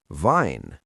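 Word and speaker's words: Wein: In German, W always sounds like V. Here are two examples. Vine, which means wine, and vas, which means what?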